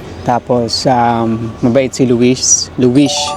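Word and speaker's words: Luís: Luish ang tawag nila. Pag may S sa huli, SH yung pagkaka-pronounce nila eh.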